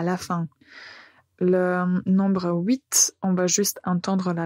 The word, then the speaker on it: huit: Pour 8, on va supprimer le T, donc ce sera 8.